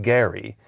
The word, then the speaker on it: Gerry: According to the family and according to uh residents of his hometown, it was he pronounced his name Gary.